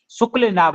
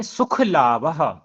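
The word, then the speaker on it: सुखलाभः: पढ़िए संतोषम शुक्ल लाभ शुक्ल लाभ नहीं सुख लाभ सुख लाभ संतोष अनुत्तम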